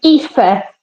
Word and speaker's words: Aoife: How do I pronounce that first name there? Aoife. It's Aoife.